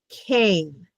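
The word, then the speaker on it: כֵּן: We start here with the k. We have the and the n. So Cain.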